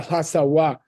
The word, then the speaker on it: Lhasawa: How do you say a New Yorker in Tibetan? Oh, Asawa. yeah, Lhasawa. So Oh, you add really? a or you add a wa.